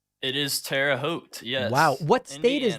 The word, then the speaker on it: Terre Haute: never know how to say this is it terra haute it is terre haute yes wow what state is that indiana okay